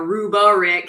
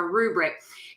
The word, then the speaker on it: rubric: You might hear people put an extra syllable, a rubric, sometimes they call it, but a rubric.